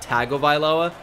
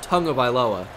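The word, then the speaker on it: Tagovailoa: of aloa Tua tongue of ioa and not tag of ioa which is not his name by the way it's pronounced tongue of aloa I still get corrected for pronouncing it correctly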